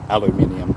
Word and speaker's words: aluminium: Yeah, I said aluminum. I was saying aluminum for the Americans in the chat. But yes, it is aluminium. Sorry, my pronunciation. I should know that, given that we have the English way, the proper way of pronouncing words.